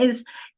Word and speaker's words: is: Folks, how do you spell z at the middle or the end of a word? Carrie, I see you doing it. It's the S, isn't it? Is, was, has.